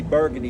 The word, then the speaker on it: Burgundy: Like we have a street we call Burgundy over there, but it's spelled Burgundy. And if I go to the bar, I'm going to say Burgundy wine, but that street name is Burgundy.